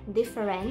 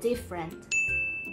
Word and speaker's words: different: ะ ไ ม่ อ่ า น ว่ า different แ ต่ เ ร า จ ะ อ่ า น ว่ า different โ ด ย ที่ เ ร า จ